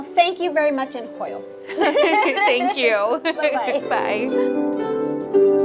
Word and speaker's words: Hwyl: And how do you say goodbye in It's going to be Hwyl. Hwyl? Yes. Hwyl. Well, thank you very much in Hwyl.